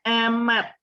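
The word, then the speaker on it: אמת: apa namanya kata yaitu Ini bacanya emmett tahu itu artinya adalah Allah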